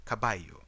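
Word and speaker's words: caballo: or the word for horse which is spelled as c a b a double l Hello. Uh, you would actually say kabayu.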